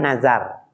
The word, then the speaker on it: nazar: Nazar itu harus diucapkan nazar. Nazar tu kaza wa kaza gitu. Saya nazar mau begini-begini. Orang Betawi bilangnya bukan nazar. Apa? Dapat hadiah nih kalau yang tahu. Hadiahnya umroh. Orang Betawi bukan nazar.